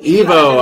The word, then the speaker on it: Ivo: Evo.